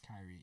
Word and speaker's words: Kyrie: Kyrie? Is that his? Kyrie, yeah.